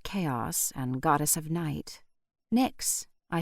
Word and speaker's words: Nyx: "Nyx," I said aloud, and I could have sworn the kitten gave a nod of approval. I pronounced her name to rhyme with tricks, as she seemed like a tiny trickster.